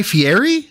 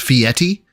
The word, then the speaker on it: Fieri: ] is a fiti Guy Fieri that's how I've known him to be pronounced it am I completely wrong is Phil got one on me here is it pronounced fiti because that sounds like some like abominable snowman type there